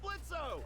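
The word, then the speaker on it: Blitzø: Hey, that sounds like Blitzo! The O is silent, asshole!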